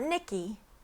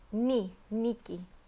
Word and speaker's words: Niki: Your lesson for the day is that traditionally the letter I in most languages is pronounced E. That's why this is Niki, okay? Only in English and probably German is the letter I pronounced I. So in English and other Germanic languages, it is I, but generally when you see it like in a name or something, it's usually pronounced E, Niki.